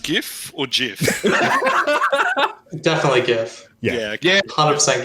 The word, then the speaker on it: GIF: Also, Brandon, is it pronounced GIF or GIF? Definitely GIF. Yeah. 100% GIF.